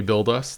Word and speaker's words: bld.us: us and you you say build us that's how you say it yep like a like a like a proper Roman name but it's but